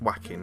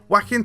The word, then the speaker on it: Joaquin: I'm pretty sure it's Joaquin, right? Because like Joaquin Phoenix, isn't it?